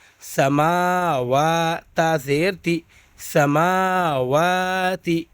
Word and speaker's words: سماوات: تا زیر تی، سماواتی۔ یہاں پر اکثر بچے غلطی کرتے ہیں۔ سماواتی میم کھڑا زبر ہے، اس کو کھینچنا ہے، سما کھینچنا ہے اس کو، لیکن بچے کیا غلطی کرتے ہیں پڑھتے وقت؟ سمواتی۔ حالانکہ میم پر کیا ہے؟ غور سے دیکھیے گا، ابھی کھڑا زبر ہے تو کیا ہو جائے گا؟